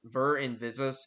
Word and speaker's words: Ver Invisus: Oh, by the way, my name is pronounced Ver Invisus. It's Latin. It's an ethical statement.